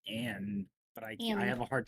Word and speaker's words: Amn: It's pronounced Anne, but I have a hard time saying it because I look at AMN and I'm like, Ammon, that place.